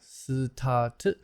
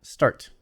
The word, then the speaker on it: start: Start, not stat, but start. Start.